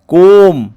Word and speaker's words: comb: घोषी मन रखा पड़े एग्जाम्पल COMB कोम अर्थ पानिया एठारे बीर उच्चारण नहीं बी हूँ साइलेंट लेटर सेपरी क्लाइम अर्थ चढ़ा